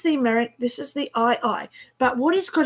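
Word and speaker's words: aye-aye: cute I love the madagascan eye eye okay if you don't know what I'm talking about okay and it's not spelled e-i-e-y-e then I'm just gonna I I okay it's actually how do we spell it a a-y-e-a-y-e okay a y e a y e so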